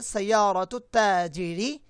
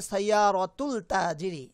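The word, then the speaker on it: سيارة التاجر: সাইয়ারাতুত তাজিরি, সাইয়ারাতুত তাজিরি জামিলাতুন। অনেকেই ভুল করে বলতে পারে সাইয়ারাতুল তাজিরি, না। কিছু কিছু হরফের শুরুতে আলিফ লাম যুক্ত হলে সেই আলিফ লামটার প্রোনাউন্স হয় না।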